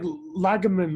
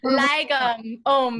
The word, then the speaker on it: lagom: It was like Lagerman, Lagermine, Lagamom. Lagom.